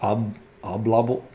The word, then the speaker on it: Oblobbles: How do you pronounce obble bobbles or Oblobbles?